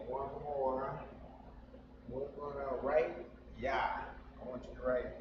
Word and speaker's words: Yah: So to pronounce that, that is Yah. Y-A. Just like in our English, Yah. That's how you say Yah in Spanish.